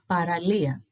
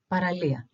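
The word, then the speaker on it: παραλία: L E and A we see where the accent is so all together is paralia it's the beach in Greek paralia then let's move on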